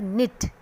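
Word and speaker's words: knit: We will pronounce इट like निट.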